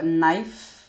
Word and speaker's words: knife: uh the next one is silent k we have uh knife we have knife we have knife we have knee uh no so most of these words which have silent k um the the silent k is followed by an N even in even for